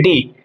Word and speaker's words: D: अब आगे बात करते हैं डी। इसको इंग्लिश में बोलते हैं डी, लेकिन अगर मैं जर्मन की बात करूं तो प्रोनाउंसिएशन अलग होती है।